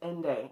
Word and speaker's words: Ende: wishes by michael and i think it's ende is actually how it's pronounced he's german um and he is